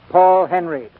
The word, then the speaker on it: Paul Henreid: He pronounces his name Paul Henry.